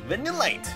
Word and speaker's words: Vanillite: coming out with the vanilla light the delight vanillite that's how you say it when you're land